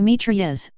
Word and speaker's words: Mitrailleuse: a meet Ria's French pronunciation from French my travail grapeshot is